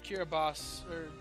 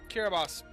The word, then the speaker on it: Kiribati: time travel to Kiribati, as I've been informed it's pronounced tonight. You know what? I believe whoever it was, but yeah, you're right. It's Kiribati. Okay, that's crazy. I've never been there. Okay, it's the language though. Okay, Kiribati. I've been pronouncing it wrong this whole time.